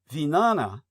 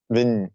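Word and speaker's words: vijñāna: And in the sarvastin view these three elements cheetah, manas and vinana. Am I saying that correctly? Vignyana. Vana. Vinyana.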